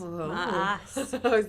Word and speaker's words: Maas: Maas. That's how you pronounce it. She has two A's. I'm saying Maas. I don't know. There's no... But Maas. you know, MESS is also pronounced Maas.